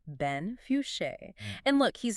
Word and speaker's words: Fouché: by the photographer Ben Fouché. Okay, and for everyone listening, we could probably get the pronunciation right. It's Fuchsia, correct? That's the one, Ben Fouché.